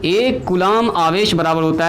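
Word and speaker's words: Coulomb: हिंदी में लिखेंगे तो कूलाम का नियम, बी साइलेंट होता है, कूलाम का, कूलाम ऐसे, है ना।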